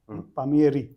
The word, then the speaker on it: Palmieri: various topics so your family name pamier yes reminds me of good pronunciation by the way yeah